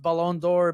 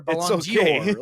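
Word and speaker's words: Ballon d'Or: or make fun of because I pronounced Balon door bong Dior like it's it's okay it's engagement you're not Christian Dior you idiot yeah I got a lot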